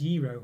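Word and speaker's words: gyro: Sorry, QP said it's pronounced Euro.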